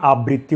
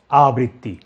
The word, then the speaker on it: আবৃত্তি: অনেকে দেখবেন এটিকে বলে আবৃত্তি, কবিতা আবৃত্তি। আমরা কখনোই আবৃত্তি বলবো না, আমরা বলবো আবৃত্তি। যাচ্ছি পরবর্তী নিয়মে।